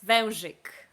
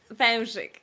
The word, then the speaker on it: Wężyk: So the family name is Wężyk. Velzik. Wężyk.